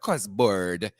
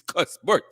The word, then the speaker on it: Cuthbert: I always have to pronounce this one differently because it's not Cuthbert. It's Cuthbert. Cosbrt.